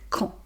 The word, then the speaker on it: quand: euh donc on prononce quand la boulangerie est-elle ouverte, hein. Donc on ne prononce pas le D. Et Q + U, ça fait donc le son que donc quand.